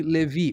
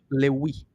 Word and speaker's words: Levi: Echad, das 12 tribos, incluindo a tribo de Levi, ou Lewi, depende de como é que você pronuncia o Vav. Se você pronunciar Va, Levi. Se você Here's today's pronunciar o Va, messianic Wa, Lewi.